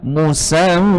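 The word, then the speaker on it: مسمى: Kemudian baris kedua, "musamma". Dua harakat, satu alif.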